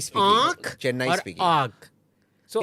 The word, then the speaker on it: आग: Up to, if you keep So a pronouncing Tamilian- it wrong, Yeah. keep saying arc.